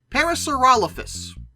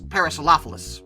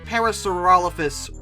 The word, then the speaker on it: Parasaurolophus: they even bring you Parasaurolophus which I consistently mispronounce as parasols like a fool but Parasaurolophus was mentioned